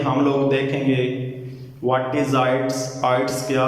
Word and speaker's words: IELTS: बहुत से लोग इसे आइलेट्स पढ़ते हैं, बिल्कुल गलत है, क्योंकि यहाँ पर एल जो है वो साइलेंट है, यहाँ पे एल साइलेंट है। नॉट अ आइलेट्स, इट्स mean आइट्स, इसका मतलब है आइट्स नॉट आइलेट्स।